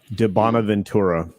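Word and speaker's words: di Bonaventura: De Bonaventura.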